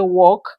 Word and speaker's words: walk: The L in these words before K is silent. So you don't say walk, you say walk, talk, chalk, yoke.